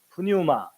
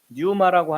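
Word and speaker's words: πνεῦμα: 또는 이제 푸뉴마 또는 뉴마, 피자 발음을 묵음으로 해서 뉴마라고 하는데 원문에 뉴마라고 돼 있을 것처럼 사람들이 생각하는데 아닙니다.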